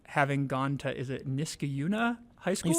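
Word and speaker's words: Niskayuna: of Albany um having gone to is it Niskauna High School? You said it right. No, that's right. Niskuna.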